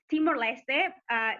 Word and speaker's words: Timor-Leste: a new country and most people don't pronounce it right and it's not your fault and it's okay so yeah it's it's timor-leste this is the official name but in english we